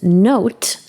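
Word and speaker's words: Knowt: Next up is to use note to generate personalized flashcards. Note is spelled K N O WT T.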